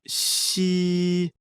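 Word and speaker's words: 嘻: The pronunciation of xi, like the English word she, but with the tongue touching slightly the bottom teeth.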